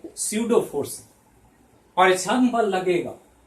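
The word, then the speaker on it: pseudo: वो क्या होगा, तो स्यूडो फोर्स पी से लिखते हैं। पी यहां साइलेंट है इसलिए एस ही प्रोनाउंसिएशन होता है, उच्चारण एस से आता है, लेकिन पी है यहां पर।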